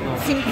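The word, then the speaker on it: Singha: Sink birası. Buranın meşhur. Sink diye okunuyor arkadaşlar.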